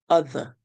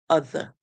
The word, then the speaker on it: other: Remember, the Americans would roll the ER to say but we who have learned English under the British system, we would say using a schwa sound. So basically we cut the sound a bit short.